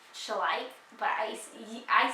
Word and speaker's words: Schleich: sure just let you know I used to pronounce it shellac and now and then I learned later that it's shall I but I I said it like shellac for